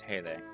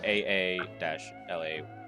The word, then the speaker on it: Hale: So just sorry, I fucking said that word wrong. It's Haley. Mhm. HAA-LAY is how you pronounce it.